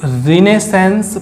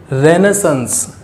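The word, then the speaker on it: Renaissance: Belonged to रिनेसेंस period. The pronunciation of the word is रेनेसेंस। रेनेसेंस, रिनेसेंस यू कैन से।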